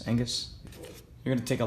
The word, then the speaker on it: Angus: I believe the G is silent, Angus.